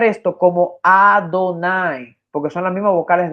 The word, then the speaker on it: Adonai: manera el escriba tiene en mente que se pronunciara Adonai Y eso está evidenciado por los mismos que